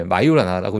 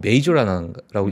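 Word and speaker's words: Majorana: 그니까 마요 마오나 마요 마이오라라나 마요네즈 비슷하네요음 마이오라 나라고 읽어요 예 마요라나고 읽는데 마조라 예 이제 거를 우리가 그대로 그냥 한글로지가 마조라 이렇게 됐는데 메이저음 그러니까 뭐 저도 이제 맨 처음에는 어 메이저라고 읽나 뭐 하여튼 그랬는데 하여튼 뭐 이름이 중요한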